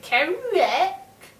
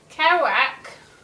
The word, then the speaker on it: Kerouac: of pages of kerouac i only know that's how you say it because that's how he said it because i would say chemic but apparently that's not what it's called um caroac like a chocolate bar it sounds to me and